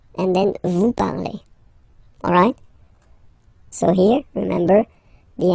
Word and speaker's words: parlez: Let's see now for vous, vous parlez, okay? Remember, a Z, when you combine them together, you get the sound E, vous parlez, All right, and the last one.